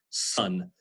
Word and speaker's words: son: And this is like the O in the English word son. Notice how the child, the boy child of your parents' son. So notice how that, even though it's spelled with an O, it doesn't sound so much like an O sound in English. It's more of an sound, son. So they have that in French as well.